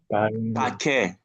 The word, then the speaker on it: paquet: Paquet. Paquet. Remember, I told you ET at the end of the word is going to be air.